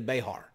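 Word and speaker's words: Béxar: example would the be the via de bejar b-e-x-a-r b-e-x-a-r actually you would see it in spanish b-e-j-a-r but for us if you think of bear county that's what we're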